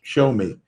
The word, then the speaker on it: Xiaomi: XIAOMI. It's pronounced show me.